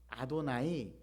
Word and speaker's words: 아도나이: 목자시니 라고 고백을 했습니다 이 아도나이 라고 하는 히브리어 알파벳을 그대로 발음대로 읽으며 는 야훼 라고 읽어야 돼요 그런데 유대인들은 야훼 라고 일지 않고 아도나이 나의 주 인기라고 하는 히브리어 단어 를 사용합니다 천지를 창조하신 전능하신 하나님